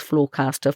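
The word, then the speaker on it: Flawcastr: Fairhaven Wealth is no longer taking on new clients, but you can access his Floorcaster for free online if you go to Floorcaster which is spelled f l a w c a s t r dot futurefriends.kiwi.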